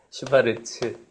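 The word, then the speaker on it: Schwarz: 슈베르트라고 읽었네. 슈바르츠 부등식.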